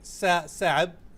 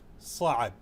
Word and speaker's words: صعب: Arabic, the sound sa is a difficult one. It's a letter which says sa. Initially you can say sa'ab with the s sound, sa'ab.